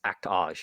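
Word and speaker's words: Act-Age: But it's Actage, right? Actage. Actage would be the English I pronunciation.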